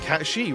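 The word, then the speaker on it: Cait Sith: Cat is pronounced Cat-she.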